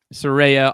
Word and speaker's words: Saraya: Saraya on and a mystery partner on January 11th, I believe, on that episode of Dynamite in Los Angeles.